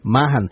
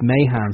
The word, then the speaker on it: Mahan: we generally ask, what we thought we had yours, Mahan, because that's how it will be pronounced here. But you just said it's Mahan.